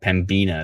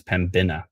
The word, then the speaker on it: Pembina: But Pembina, says Bobby, not Pembina, it's Pembina. Oh, okay, Pembina.